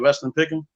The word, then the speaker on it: Weston Picken: Is that how you pronounce it, right? Weston Picken.